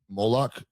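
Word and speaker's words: Moloch: I can't even pronounce his name. Moolik. Moolak.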